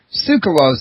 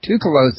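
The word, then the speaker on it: Tsoukalos: have interviewed Giorgio and now I just heard you pronounce his last name sue cause I always pronounced it too close if I've been getting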